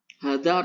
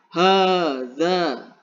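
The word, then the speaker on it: هذا: Hada artinya apa? Ini. Di sini dibacanya panjang. Hada. Hada. Nah, panjang ya.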